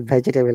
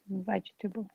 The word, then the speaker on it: vegetable: okay so vegetable remember it is not vegetable anymore from today yeah vegetable yeah i'm going to